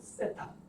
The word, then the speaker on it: 세타: 발음 세타. 혀를 좀 이렇게 눌러야 돼요. 세타.